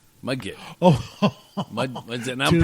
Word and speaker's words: Mudgett: Mudgett. Oh, And I'm dude, pronouncing it right, folks. dude, Mudgett.